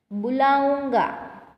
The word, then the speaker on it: बुलाऊंगा: तो ऊ कैसे बोला जाता है, ये बड़ा ऊ है। बुलाऊंगा बुलाऊंगा। पिटवाऊंगा पिटवाऊंगा। जाऊंगा जाऊंगा। तो ये बड़ा ऊ है, जो उसका प्रोनाउंसिएशन कैसा हो रहा है तो उसके ऊपर आपको भार दे के बोलना है।